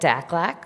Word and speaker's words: DACLAC: So that's why accessible transportation rises to the top of our priorities at DACLAC, which also rhymes with AFLAC.